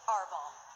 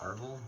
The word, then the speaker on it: Arval: of dreams and reality you may call me arbol not marvel just well okay that's like the same thing pronunciation-wise but for now let